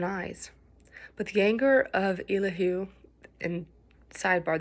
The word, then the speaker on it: Elihu: But the anger of Elahoo. And sidebar, this is one of those names that is pronounced several different ways. There's Elihu, Elhu. If your pastor says it differently, go with whatever your pastor says.